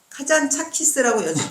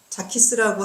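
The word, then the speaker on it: 카잔자키스: 그 중에서도 이름이 코스 카잔 차키스라고 모든 번역서가 돼 있지만 카잔 재킷 쓰다 그런 그리스어 그 발음이 무성음이 아니고 차가 아니고 자기 때문에 자키스라고 한글로도 써야 된다고 얘기하고 있거든 그래서 이제 나도 계속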